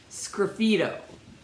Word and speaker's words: sgraffito: So it's like if you take the S off, graffito, but with an S in front. So it's pronounced Sgraffito.